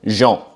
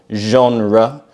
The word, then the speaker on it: genre: They say genre instead of genre, which is how we pronounce it in English.